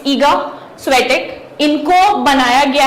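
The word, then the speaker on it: Iga Świątek: Again proper noun उनका जो country में कुछ अलग प्रोनाउंसिएशन होता है तो it could be different, but एज फार एज I know it's Eega स्वेटिक।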